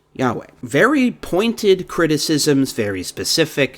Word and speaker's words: Yahweh: form Jehovah stating that the word Jehovah does not accurately represent any form of the name ever used in Hebrew and that it is almost if not quite certain that the name was originally pronounced Yahweh very pointed criticisms very